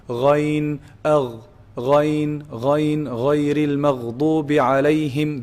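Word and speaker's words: غين: So ghayn is pronounced from the top part, the highest part of the throat, the closest to the mouth. Ghayn, agh, ghayn, ghayril maghdubi alayhim.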